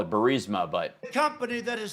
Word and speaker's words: Burisma: Now, Trump clearly has an issue with, most of us would call it Burisma, but the company that his son worked for, that's Burisma.